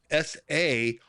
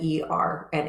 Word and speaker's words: Sarna: Yeah, SARNA. And I'm going to add it right there in the chat. Oh, I may have said Erna. Yeah, Sarna.